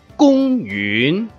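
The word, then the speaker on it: 公園: Kung yun, que significa parque. Kung tiene acento o tono. Y yun comienza con un tono grave y termina con acento en la ng.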